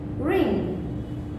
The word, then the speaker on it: wring: So the next verb is ring. Ring. Ring. It's kind of same sound, but the W is silent.